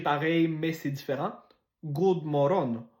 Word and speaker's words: God morgon: God morgon. God morgon. Un peu comme genre moron, mais moron.